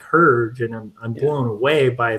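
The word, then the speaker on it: Hergé: If you want to know his pronunciation, you say it almost right. It's Herge, but you add the A. It's Herge.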